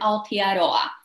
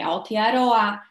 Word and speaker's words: Aotearoa: Dlatego tutaj Aotearoa, Iwi, Haka słynna. Tutaj samogłoski są wymawiane dokładnie tak jak w naszym polskim alfabecie.